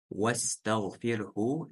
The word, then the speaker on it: واستغفره: Вастагфирху. Здесь сразу же переходим на син. Васля не читается.